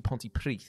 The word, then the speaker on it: Pontypridd: It's spelled like P-R-I-D-D, but it's actually Pontypridd.